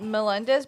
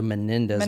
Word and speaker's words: Menendez: Melendez brothers in the background? Well, yeah, but they usually pronounce it the Menendez brothers.